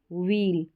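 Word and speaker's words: wheel: ईल पील व ईल वील तो ये जो डब्लू एच साथ में आ रहा है तो यह यहां पर एच साइलेंट है वील व्हील हील करके यानी एच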